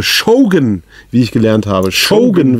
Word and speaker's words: Shogun: wie ich gelernt habe Shogun wird das ausgesprochen nicht Shogun und ja es ist